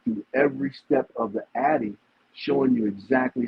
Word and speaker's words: AATI: And my ancestors taught me something that I call the Addy, okay? And it's spelled AATI, Addy, right?